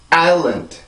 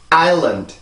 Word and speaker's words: island: land, island. 한 번 더. island. 그죠? 이렇게 해서 이 단어가 발음이 돼요.